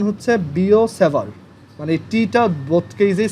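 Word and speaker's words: Biot–Savart: এটা বায়ট-স্যাভার্ট ল না, এটার উচ্চারণ হচ্ছে বিও-স্যাভার্ট, মানে টিটা বোথ কেজেই সাইলেন্ট। ফ্রেঞ্চ ওয়ার্ডের, ফ্রেঞ্চ নেম, বিও-স্যাভার্টস ল।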